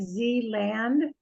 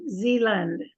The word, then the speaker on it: Zealand: wildlife of New Zealand even though it looks like Z land I think we're lazy and we say Zealand almost if it's l-u-n-d so we say New Zealand are similar to those